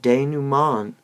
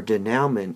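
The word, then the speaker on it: dénouement: of these will not prove a problem but de numan or da naumann is spelled d-e-n-o-u-e m e n t and that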